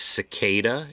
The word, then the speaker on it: cicada: He said it is cicada, it is not cicada.